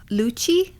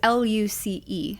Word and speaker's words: Luce: The name is Lucci, I think that's how you say it, but it's Luce.